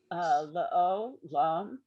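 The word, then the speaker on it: לעולם: So the syllables here, the first lamed is the first syllable. The ayin with the holem vav, the vav with the dot over it, is the second syllable. And then the lamed and the mem sofit are the third syllable.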